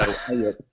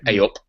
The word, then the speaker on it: eyup: So A up, it's spelled EYUP, and it's kind of like hey up, but we say A up.